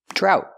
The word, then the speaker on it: drought: And remember, GH together is silent. Drought.